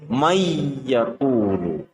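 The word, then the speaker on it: مَنْ يَقُولُ: Tulisannya adalah man, yaqulu. Tulisannya adalah man, yaqulu, akan tetapi cara membacanya adalah nun harus dimasukkan ke huruf ya dengan cara mendengung. Cara membacanya menjadi may yaqulu.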